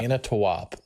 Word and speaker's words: Manitowoc: Manitowoc. Manitowoc. Ah, good call. Huh. Good call on the pronunciation, or that it's in Wisconsin.